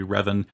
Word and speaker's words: Revan: supposed to be pronounced i have heard raven but i know it should be revan um but not quite